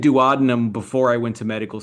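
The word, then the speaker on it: duodenum: It's you either choose douadinum or you choose douadinum and you cannot do both and and life the entire medical community is split.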